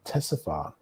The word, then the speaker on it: Ctesiphon: So obviously the C is it's a silent C. So Ctesiphon.